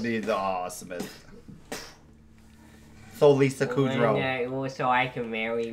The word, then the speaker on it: Kudrow: You don't even know how to say her name. Kudrow. Not Kudrow. Not Cujo. It doesn't matter. Yeah. Yeah, it's not Lisa Cujo.